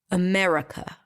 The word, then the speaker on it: America: the r the C the truth is that we don't pronounce any of those vowels because all of them are reduced to AA America America America yes so there is no ah in America and there is definitely no e in America and going